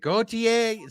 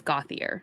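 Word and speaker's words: Gauthier: forth and be like is it gothier is it goer so yes we we we out fancied ourselves and then just kind of second guessed where we were on his name but it is gothier so there there you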